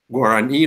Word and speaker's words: Guarani: Well-known examples are French, Turkic languages, Guarani language is also an example of language with a stress on the final syllable, and not surprisingly, in